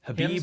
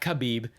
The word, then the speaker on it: Khabib: while to learn but it's Habib is not khabib to all you people out there it's Habib Nomura Madoff was he